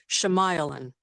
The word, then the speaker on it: Shyamalan: Shyamalan. My cousin? Shemailan? Hey, Shemailan. I was no, I'm just messing. What a But twist. yeah, That's fine. Yeah. No, I always say his name wrong. Shyamalan.